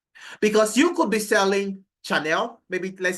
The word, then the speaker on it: Chanel: I'm right it's it's Chanel okay Chanel I'm right okay so Shanel okay okay all right the the H is silent you know maybe I'll